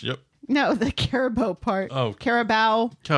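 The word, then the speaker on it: Carabao: Is that how you pronounce that? Cup match. Yep. No, the Caribou part. Caribou.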